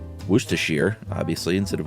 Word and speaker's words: Worcestershire: Shire like wire but when used as a suffix it's uh it rhymes with beer so Oxfordshire Worcestershire obviously instead of Worcestershire or leicestershire I say